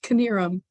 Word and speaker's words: Canarum: Yeah, you actually got it right. It's Canarum. Well, I'm pinning you here.